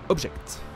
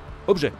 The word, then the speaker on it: objet: Ouh là là, vous pouvez passer à un véhicule différent que vous possédez dans l'onglet Object. Objet, pas Object. Le mec qui prononce tout en anglais, tu sais.